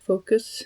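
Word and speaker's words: Foqos: You can see it's spelled Focus. F O Q O S.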